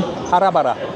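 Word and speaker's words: Hara Bhara: Right, I've just asked what this one is, and it was the one with the very strange name, Chicken Harabara. Is that right? That's good pronunciation, yeah.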